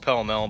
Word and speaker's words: Pall Mall: time unfiltered brands like paul mall pronounced pell mel by some were starting to get